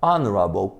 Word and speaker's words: honorable: Mas na pronúncia, este H aqui é eliminado. Então pronunciamos our, som de vogal, honest, som de vogal, heir, som de vogal, heirship, som de vogal, honorable, som de vogal.